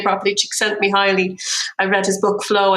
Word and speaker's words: Csikszentmihalyi: I hope I pronounce his name properly. Csikszentmihalyi.